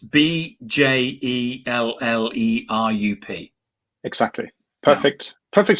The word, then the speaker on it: Bjellerup: Well, I pronounce it Bjellerup, but I'm pretty used to being called Mr. and you can see why. And it's Bjellerup.